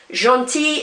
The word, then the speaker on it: gentil: Gentil is pronounced the same, whereas rigolo now becomes rigolote.